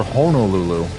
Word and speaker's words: Honolulu: Head over the mountains and see for everyone else usually pronounces it as Hanolulu, but I guess if he said it like that, then it must be called Honolulu.